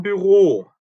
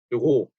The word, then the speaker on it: Büro: 이것도 우 umlaut는 으죠. 자, 위하고 달라요. 위라고 발음하면 우 다음에 이가 되면서 입이 벌어지죠. 위 이렇게 이하고 벌어지잖아요. 근데 그게 아니라 입 모양은 그대로 둬야 되기 때문에 우 다음에 으, 이렇게 됩니다.